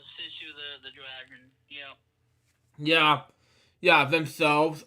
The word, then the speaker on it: Sisu: And again, it's hard to pronounce. Yeah, it's Sisu the dragon.